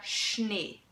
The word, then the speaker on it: Schnee: So basically, in every word where the SCH is in one syllable, you pronounce it sh, okay? For example, der Schnee, okay?